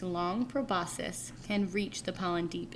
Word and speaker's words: proboscis: Proboscis. Proboscis. Let's try this again. Proboscis. Oh, okay. Proboscis. Sorry, I said a long I and they said a short I.